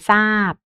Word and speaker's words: ทราย: เป็น เสียง ซอ นะ เช่น คำ ว่า ทราย ซาบ ทรง ซวง ไท นะ คะ ซวด ทรง ซุด